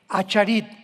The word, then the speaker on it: acharit: Postreros es acharit, así como suena con ch. Se pronuncia ait, aharit.